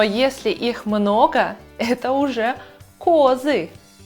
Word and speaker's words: козы: Но если их много, это уже козы. Ударение переместилось на О.